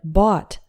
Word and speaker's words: bought: corner of every room the second way to pronounce Oh ugh is like the OO in sha we encounter this in the word bought which is the simple